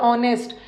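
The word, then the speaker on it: honest: दिया ठीक है नरेल ऑनेस्ट ऑनेस्ट में भी नेस्ट नहीं होता एच साइलेंट है ऑनेस्ट नरे बल यही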